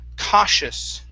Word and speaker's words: cautious: The word is cautious. Instead of cautious, it's cosh. When you see a T-I together like that, in most cases, it creates a sh sound, like an S-H.